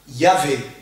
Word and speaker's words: Yahvé: la prononciation française de ce mot hébreu devient Yahvé. Yahvé. Ou Jéhovah.